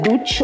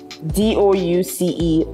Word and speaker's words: douce: Is that is douche or douce? D-O-U-C-E, douce. And it means sweet.